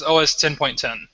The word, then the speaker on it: OS X: 10.10 or is this OS 10.10 that's always X 10.10 Apple has never called it OS X it's always been OS 10 that has always been pronounced 10 so it's always been OS 10.